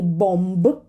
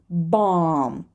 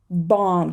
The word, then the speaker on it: bomb: first pattern is a silent B in mb right so we do not say bomb we say bomb bomb just imagine that this B is not there and it's not Bo it's ba right bomb bomb the next